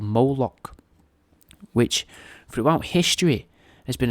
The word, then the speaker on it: Moloch: In some writings, Moloch's apparently represented as well by the spelling of Mlk, pronounced Moloch, spelt M-L-K, right, so that's Mlk,